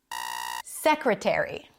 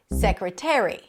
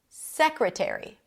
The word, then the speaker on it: secretary: This is my favorite pronunciation. Now, what about this? Secretary. Secretary. Not secretary. Secretary.